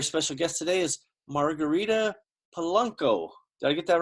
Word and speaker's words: Poluyko: My very special guest today is Margarita Poluyko. Did I get that right? Almost. Poluyko.